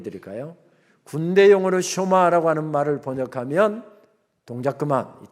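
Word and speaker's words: שמע: 쇼마 이시루엘 이스라엘아 들으라. 이스라엘아 들으라 하면서 말씀이 시작됩니다. 흔히 우리가 쉐마 쉐마합니다만은 정확한 히브리어 발음은 쇼마입니다.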